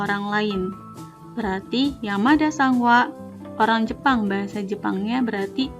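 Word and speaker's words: は: atau subject kemudian ada Wa kalau misal ada yang bingung kenapa di sini tulisannya hak tapi kok dibaca WA karena kalau misalnya dia masuk kedalam kalimat dibaca nyawa bukan hak kata benda 2 Des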